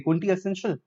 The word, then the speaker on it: quintessential: the 7th word is quintessential so calico a quintessential no no no no ok look at this year it's quintessential it's clearly written you're Quinn to central